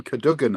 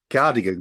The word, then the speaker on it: Cadogan: Speaking of cameras, we're here to talk to you about Live from Cadogan Hall, and I'm pronouncing it that way, Craig.